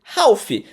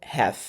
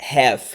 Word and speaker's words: half: Então você não, você não vai falar half, você vai pronunciar como have. Half, por exemplo, half an hour, ou seja, metade de 1 hora, 30 minutos. Half an hour. H. Então, essa é a pronúncia certa, have.